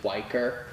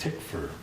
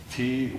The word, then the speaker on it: Tykwer: I think isn't it Twyker? No, it's Tykwer. Tykwer. And the W in German is pronounced like a V.